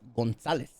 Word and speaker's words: Gonzalez: That name is pronounced Gonzalez. Well, in our thing or whatever. All you gringos can say Gonzalez. Gonzalez. Where's the C come from them? There is no C. It's Gonzalez.